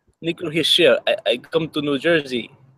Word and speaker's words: Hischier: Hischier. Hischier. Nico Hischier.